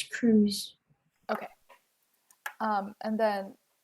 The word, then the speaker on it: Cruz: Is it Cruz or Cross? It's Cruz.